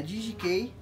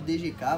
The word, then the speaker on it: DGK: um tempo, é a DGK. Pra quem não conhece, tem gente que chama de DGK, mas na real a pronúncia é inglês, né?